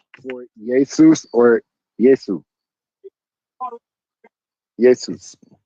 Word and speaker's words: Jesus: Jesus. Brother, it's pronounced Isus.